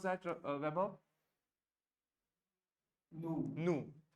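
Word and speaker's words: nous: Nu. Nu. N-O-U-S की ध्वनि है nu, which means we.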